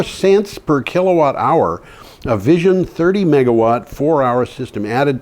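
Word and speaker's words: Vizn: Vision, V-I-Z-N, Vision Energy Systems enables 24/7 solar nights at the lowest ever published cost. They pronounce it Vision.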